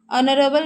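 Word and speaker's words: honorable: एन इसलिए यूज़ होगा क्योंकि यहां पे जो ऑनरेबल लिखा है ये एक वोवेल कंसोनेंट है और यहां पे वो साइलेंट हो गया है।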